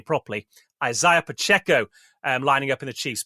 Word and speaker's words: Isaiah Pacheco: And you've got the likes of Isaiah Pacheco, I'll say his name properly, Isaiah Pacheco lining up in the Chiefs' backfield.